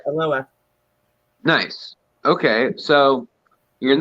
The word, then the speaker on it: Aloha: live in aloha which most people would think is pronounced aloha but it's not it's a loa i don't know why